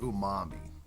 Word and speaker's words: umami: that our tongue can pick up it's called umami and that's ooh um am I so I know the truck is spelt oo H - mo mmm I but